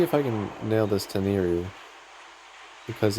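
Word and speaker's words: Tenryu: Also, I know I keep pronouncing it wrong, it's Tenru, but I've been saying it as Teneriu so long it's just kind of stuck.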